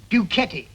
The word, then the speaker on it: Ducetti: Arthur Ducetti. That's the proper way to pronounce it.